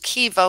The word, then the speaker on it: kiva: Am I pronouncing the word correctly? Kiva? Yes. What is the language of origin? Hopi. Can you please use it in a sentence? Used by Pueblo Indians, a round kiva was partially underground, lighted